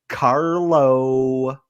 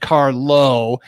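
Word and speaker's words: Carlow: pop culture reference the term this week is carlo is carlo a wine beer spirit or pop culture reference jeff eckles uh it's carlo carlo carlo could you could you spell that for us c-a-r-l-o-w car low car low hmm there's so much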